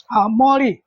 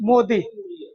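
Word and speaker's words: मोडी: मौड़ी मौड़ी मोदी मौड़ी बोलते हैं मोदी भी इसका उच्चारण होता है।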